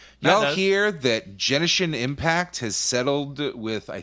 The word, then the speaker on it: Genshin: Genshin. The hard like G. it, yeah. Hard G.